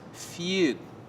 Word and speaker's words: FUD: It's pronounced feud.